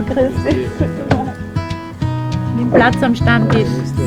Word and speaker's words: Stammtisch: Nimm Platz am Stammtisch. Yeah, man, say it right. Stammtisch. Sound like Stammtisch.